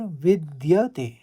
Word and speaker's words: विद्यते: तस्य कार्य ना और विद्यते विद कहेंगे फिर विद्यते कहेंगे इस तरह से उच्चारण होगा तस्य कार्य ना विद्यते